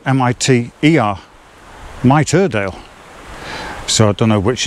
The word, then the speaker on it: Miterdale: Which would mean that the pronunciation is mitre, like in a bishop's hat, or the corner of a frame, as I know it, mitring.